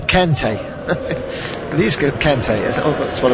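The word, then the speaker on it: Kanté: I'm not quite sure, but I've been saying Kante anyway. It's pronounced Conte, isn't it? Conte.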